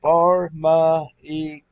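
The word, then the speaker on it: φαρμακεία: medicine you might as well say and it's pronounced far my e medication pharmacy magic literally or figuratively sorcery witchcraft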